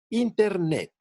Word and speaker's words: Internet: Por ejemplo, en la palabra Internet, las átonas son IN-TER y la tónica es NET, Internet.